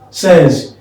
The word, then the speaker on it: says: Says. Don't say, stop saying says. He says. He says is not the correct pronunciation.